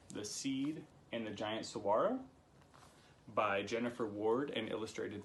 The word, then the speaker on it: saguaro: about the saguaro cactus I learned how to say so ro after saying it incorrectly while reading it the entire book so do not listen